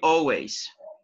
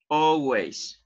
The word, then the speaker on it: always: for this frequency ever letter L is silent you did not pronounce it so you say always always letter L is not